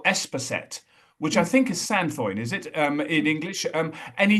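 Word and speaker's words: sainfoin: A horse owner I was working with in France, and of course you pronounce it sampoing. So I now call it sampoing, not sandfoin.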